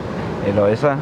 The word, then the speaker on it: Eloisa: Eloisa.